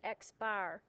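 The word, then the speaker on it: x̄: And you pronounce it Xbar.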